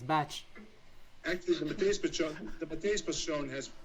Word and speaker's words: Bach: By the way, it's pronounced Bach. It's not Bach. It's Bach.